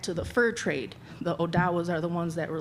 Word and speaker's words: Odawa: The next tribe we have is the Ottawa is the colonized word, but the correct way is Odawa. The Odawas are the keepers of the trade. So thinking back to the fur trade, the Odawas are the ones that